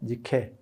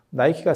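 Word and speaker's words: Nike: 그게 밀로의 비너스, 그 다음에 저 모나리자, 그 다음에 사모트라케 섬의 니케, 나이키입니다. 나이키. 니케 나이키는 영어 발음 때문에 나오는 거예요. 그래서 그게 승리의 여신이거든요. 그래서 나이키가 승리의 여신, 뭐 이렇게 해서 광고를 예전에 한 적도 있죠.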